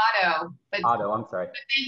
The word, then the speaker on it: Otto: Is that the correct pronunciation? It's Otto.